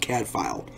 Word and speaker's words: Cadfael: it out it's called Cadfael spelled CA b fa e el pronounced Cadfael british show really good highly